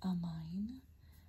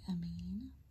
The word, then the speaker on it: amine: a okay about so in some places people pronounce it amine where I'm from we say am me and sometimes even within the same country some people will say am me and some people will say amay in any case the